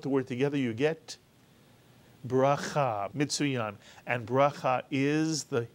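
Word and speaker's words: ברכה: So the shva is pronounced I, as in the word fish, even though it is not counted as a vowel. So the first syllable in this word is birah, and the second syllable, cha, mitsuyan.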